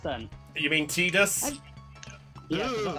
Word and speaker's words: Tidus: In the games, it's canonically Tidus, and you can tell it through 2 reasons. One, anytime they pronounce something with an I in Final Fantasy X, they always say it as an E.